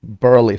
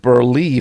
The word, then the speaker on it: Burley: I always say Burley family, but here for some reason I said Berley family and he was like saying Burley family. So he was like pronouncing it correctly actually even though I just said it the wrong way.